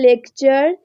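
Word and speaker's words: lecture: সো the next rule number 6, শব্দে টি থাকলে, টি এর পরে ইউ থাকলে টি এর উচ্চারণ চ এর মতো হয়। For example, লেকচার, century and স্ট্রাকচার।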